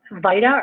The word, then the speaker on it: VITA: So it's called VITA, or VITA, I've heard it pronounced both ways, Volunteer Income Tax Assistance Program.